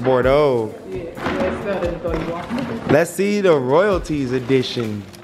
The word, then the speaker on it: Bordeaux: yeah bordeaux everybody was saying yo cj say bore those one more time and i kept saying it